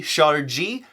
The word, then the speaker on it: ŝarĝi: a Jeep and so use that soft G shot or G for putting it into a Jeep and beep